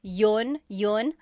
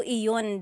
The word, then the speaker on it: iyon: You might hear people say, ginawa ko iyon dahil mahal kita, but usually the letter I sound is dropped.